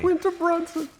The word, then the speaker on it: Quinta Brunson: John Travolta called it Quinta Brunson, but I'm glad you know how to pronounce it properly. Quinta Brunson.